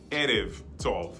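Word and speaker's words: ערב טוב: modern Hebrew, and then the Ba, which in modern Hebrew becomes a Va. Okay. Modern Hebrew is pronounced Erev Tov, okay?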